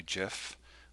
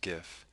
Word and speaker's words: GIF: Typically Photoshop defaults to GIF, which is actually GIF, although most pronounce it GIF, including me often.